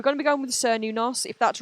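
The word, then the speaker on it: Cernunnos: Cerninus pronunciation. It's typically pronounced kernos, though some say new s. I like sernos better. Okay, we're going to be going with sernunos.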